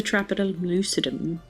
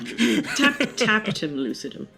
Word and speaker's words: tapetum lucidum: It's the Trapidum lucidum.